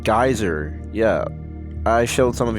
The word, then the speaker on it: Gyzer: You can see the game in there in my description under creations, called Geyser. It's spelled Gyzer.